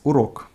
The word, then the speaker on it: урок: So, сейчас урок. In сейчас, the emphasis falls on a, and in урок on o.